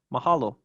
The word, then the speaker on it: mahalo: orthography all right and our final example of typical penultimate stress is mahalo which means thank you